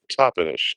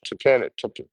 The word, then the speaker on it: Toppenish: So Toppenish, Tapanish. I would pronounce it Tapanish, but I feel like that's wrong. I think it's Toppenish.